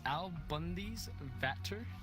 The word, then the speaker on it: AlBundysVater: How do you pronounce this name? Well. It's AlBundysVater.